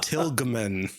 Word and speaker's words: Tilgeman: No, there's a G in there. It's Tilgeman.